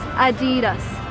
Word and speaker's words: Adidas: You probably called it Adidas or something else, but the correct way to pronounce it in American is Adidas.